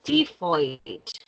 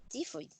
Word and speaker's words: typhoid: A ver, esta es la palabra que está aquí, es typhoid. Tifoid. Sí, la PH suena como una F.